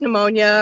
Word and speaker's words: pneumonia: So well, it is, or like pneumonia or possum.